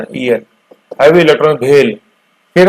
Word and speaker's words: BHEL: पहले जो 3 लिखी हुई ये हुई है भेल गेल सेल, प्रोनाउंसिएशन देखो जबान में पड़ रहा है ना, भेल गेल सेल, है ना।